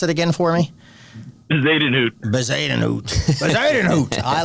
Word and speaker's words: Bezuidenhout: And then that Jason Christian, pronounce it again for me. Bezuidenhout.